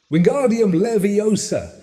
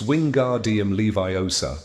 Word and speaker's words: Wingardium Leviosa: Wingardium leviosa, he shouted, waving his long arms like a windmill. You're saying it wrong. Harry heard Hermione snap. It's wing guardium leviosa. Make the gar nice and long.